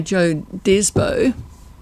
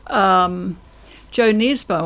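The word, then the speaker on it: Jo Nesbø: Whereas I've got Knife by Joe Desbo, and it's Joe Nesbo.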